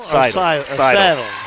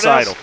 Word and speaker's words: Seidel: Saddle. Seidel. Yeah, it's Seidel. He hits the first one. So they pronounce it like a saddle? Or? Yep, like a Seidel.